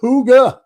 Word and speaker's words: Hygge: Hygge is pronounced Huga, Huga, Huga.